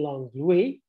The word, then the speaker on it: Langlois: Her Huguenot refugee parents, Nicolas Langlois, or in contemporary pronunciation, Langlois, and I'll probably mix up the two pronunciations in the course of this talk, and Marie Pressot, sorry